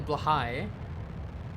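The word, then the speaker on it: Blåhaj: It's also not how it's pronounced. It's apparently Blahai, but in much the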